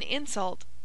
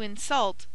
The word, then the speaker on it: insult: the first syllable but when we say he did it to insult another person that word insult implies acting and becomes a verb and should be accented on the last syllable simple rules of pronunciation